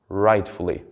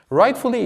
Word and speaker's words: rightfully: it after me please rightfully rightfully is a word which has three syllables and the stress of the word would be on the first syllable rightfully rightfully but what